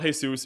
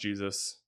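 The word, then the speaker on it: Jesús: It's not Jesus, it's pronounced Jesus.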